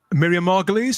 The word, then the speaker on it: Miriam Margolyes: Miriam Margolyes, who did the voice, do you mean?